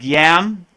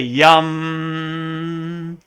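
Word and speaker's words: यं: it's really rum so you see how the a is really a u in and really how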